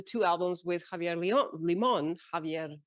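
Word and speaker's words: Limón: and did the two albums with Javier Leon leemon Javier leemon pronounced well thank you I'm practicing and and toured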